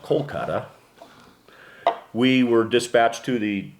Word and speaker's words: Kolkata: on our arrival to calcutta which is now pronounced kolkata we were dispatched to